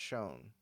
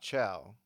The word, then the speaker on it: Chão: Apparently, it's pronounced Shone, not Chow.